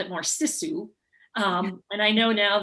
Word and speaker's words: sisu: know we grew up we called it more sisu um and i know now that and the true pronunciation is sisu but we called it you know living we're